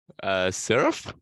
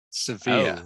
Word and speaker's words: severe: Despite her surf, right? Not right. It is pronounced severe. Severe. Oh, Severe.